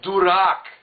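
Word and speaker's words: дурак: No, it's durak. He can't even pronounce it. Durak. So you got to say it right.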